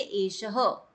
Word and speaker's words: एषः: ठीक है, जैसे एश लिखा है ना, एश के पीछे 2 डॉट्स लगी है, तो उसको हम पढ़ेंगे एशह।